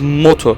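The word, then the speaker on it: Modu: hoons would experience their golden age the correct pronunciation of his name is moto and it has been translated to into modern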